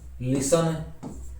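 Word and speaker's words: listen: फिर आगे देखो साइलेंट है टी, टी को किस प्रकार साइलेंट किया गया है, जैसे ऑफेन, ब्रिशल, बशल, बचर, ये बुचर बोल दो इसको, काश्ल, Christmas, फाशन, ग्लिशन, हशल, लिसन, रशल, scratch, सोफेन, watch, we shall और विच।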